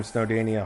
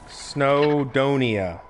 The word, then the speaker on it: Snowdonia: And this is where I farm Snowdania hawkweed, which is... Oh, wait. Snowdonia. Snowdonia. I'm saying it wrong the whole time.